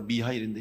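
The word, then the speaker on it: Михаил: 이 소설의 내용은 미하일이라고 하는 한 천사, 미카엘인데 이제 러시아 발음으로 미하일인데, 미하일이라고 하는 이 천사가 하나님의 명령을 받아서 한 영혼을 하늘로 데리고 와야 돼.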